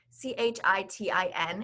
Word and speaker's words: chitin: learned that fungi have cell walls composed of chitin c-h-i-t-i-n is pronounced chitin this is a complex polysaccharide that